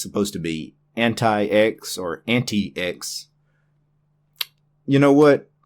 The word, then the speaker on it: antiX: The founder of Antix, the creator of Antix, originally wanted it pronounced Antix. You can find this on the internet. Just Google it. He wanted the Linux distribution to be pronounced Antix, not anti-X. Ubuntu.